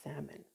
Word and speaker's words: salmon: Why do people insist on pronouncing the L in salmon?